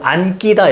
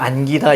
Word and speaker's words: 안기다: 받아들이시면 이 녀석은 어떻게 소리 나면 안끼다 이렇게 소리 안 납니다. 안끼다라고 소리가 안 나요. 왜 그러냐면 얘는 그냥 안기다 이렇게 소리가 납니다.